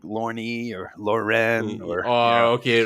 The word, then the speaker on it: Lorne: I'm like, it's Lorne. Just one syllable. Keep it simple.